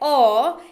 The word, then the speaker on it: aww: और ये वाला एक्सप्रेशन जब आप इस्तेमाल करें, AWW, ओ, इसका उच्चारण होता है ओ, किसी अच्छी या प्यारी चीज की प्रशंसा के लिए इसका इस्तेमाल होता है।